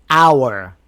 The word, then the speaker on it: hour: The H is silent at the beginning of some words, but you should know about those words. Here's the first one. Hour. One hour. We don't say one hour.